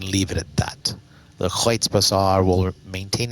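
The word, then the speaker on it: Kreuzbasar: Over the rainbow here in the Kreutz Bazaar. Now that I actually know how to say it correctly, I'm taken to saying it as many times as humanly possible. The Kreutz Bazaar.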